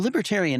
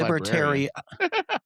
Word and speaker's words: libertarian: I'm well, libertarian is it, isn't it? Libertarian is the right word. He doesn't say librarian. Libertarian. I'm libertarian. I wrote it down right. He didn't say it right.